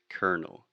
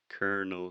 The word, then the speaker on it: Colonel: perfect example of how in English we do not pronounce the things that we write in the same way English is not a